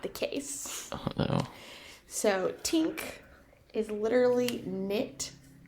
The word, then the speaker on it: tink: Tink. Tink? T-I-N-K.